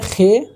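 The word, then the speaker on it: خ: खान वाला ये खे नहीं है, खान वाला खे है, इसको खे हलक से बोलते हैं, लेकिन उतनी ज़रूरत है नहीं।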